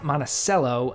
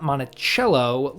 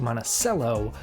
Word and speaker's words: Monticello: As a note, the town is pronounced Monaceel, not Monachello like Thomas Jefferson's estate. It took me quite a few times of saying Montichello to and actually correcting myself into Monaceel to really break that habit.